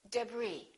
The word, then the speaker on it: debris: my kitchen cupboard silent s Arkansas Illinois Island debris all right one more silent W answer don't